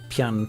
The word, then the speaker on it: Pyun: into talking about Hilbert Pyun which i think is how you're actually supposed to say his name yeah I say it pyoung too but I think it's pion anyway dudes a legend